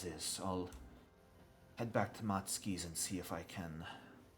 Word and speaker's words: Matsuki: Matsuki, yes.